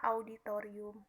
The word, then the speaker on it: auditorium: O Misalnya kesalahan ee pengucapan auditorium yang sebenarnya harus dibaca auditorium kesalahan eh pengucapan Ola